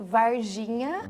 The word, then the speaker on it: Varginha: say the name of the town It's Called Virginia Virginia yeah yeah it's great bom no